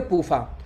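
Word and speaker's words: PUFA: तो पूफा शॉर्टकट में हो गया, पी यू एफ ए, इसको शॉर्टकट में पढ़ेंगे पूफा।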